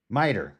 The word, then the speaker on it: miter: Now I gotta find the word meter in here. Miter. I'm saying it wrong.